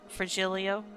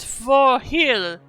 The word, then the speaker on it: Virgilio: You look winded, Virgilio. It's pronounced Forhirio.